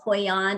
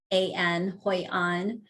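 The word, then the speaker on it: Hoi An: was beautiful but vietnam in this place called hoi on it's spelled h-o-i-a-n hoi on um any american i think that you know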